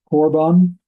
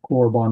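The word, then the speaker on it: קָרְבָּן: Corbon. Notice that that initial Pak that is a closed unacented syllable. And so it's that's an o vow orb or bon.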